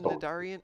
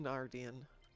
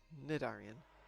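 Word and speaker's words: Cnidarian: You don't get Nidarian. No, you don't get Nardian. Nidarian. It's a knock and a knife.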